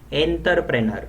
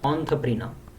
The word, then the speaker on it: entrepreneur: is engineer or engineering then we say enterpreneur or entrepreneur it should be oh that is entrepreneur then we say -